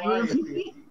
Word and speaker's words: calliope: That is pronounced Calliope.